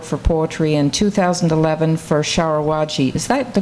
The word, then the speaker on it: Sharawagi: Authors Association Award for Poetry in 2011 for Sharawagi. Is that the correct pronunciation? Sharawagi. Yeah. Sharawagi, from Brick Books.